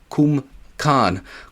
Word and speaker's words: Cwmcarn: Kumkan Scenic Drive, which in Welsh it is spelled like this, and then in English it would sound more like this. Cwmcarn.